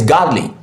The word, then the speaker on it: godly: And remember, any word that ends in ly stresses the first syllable. And if we break this godly into its component syllables, we have God and lee, God and lee. So we pronounce this, or this is pronounced godly, godly, godly.